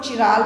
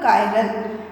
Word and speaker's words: chiral: यहाँ मैंने एक वर्ड यूज़ किया है CHIRAL, कुछ लोग इसको चिराल बोलते हैं, बट the exact pronunciation is द कायरल, कायरल compounds, ठीक है।